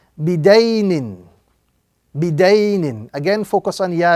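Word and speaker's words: بِدَيْنٍ: So this word will be pronounced bidaynin.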